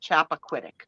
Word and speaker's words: Chappaquiddick: But that's how you say it, Chappaquiddick.